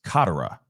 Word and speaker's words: Katera: been crazy but it's Beauty couch and it's Katara okay Katara Beauty Katara couch okay was located